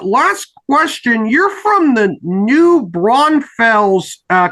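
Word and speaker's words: New Braunfels: Pages my uh last question you're from the new brunfels uh correct me if I mispronounced the name of your hometown oh it's new brunfels it's it's and it's not where I I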